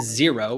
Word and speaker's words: Xero: for having accurate bookkeeping number two is zero which is spelled x-e-r-o a little different but that is a